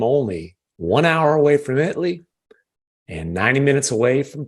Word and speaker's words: Italy: chat anyway I it's spelled Italy but it's pronounced Italy it's the interesting town of former Cowboys defensive